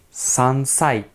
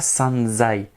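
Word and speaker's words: 三歳: nissai très très simple 3 ans sansai sansai et oui pas sanzï on aimerait dire sanzï mais c'est bien sansai 4e yon on regarde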